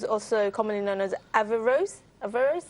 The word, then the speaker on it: Averroes: Averroes, that's how you pronounce it.